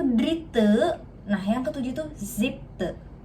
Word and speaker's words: siebte: nah yang ketujuh itu siebte. Te ya, te bukan te. Jadi kayak kita nyebut mukena, gitu. E-nya itu bukan pakai e tapi e, oke?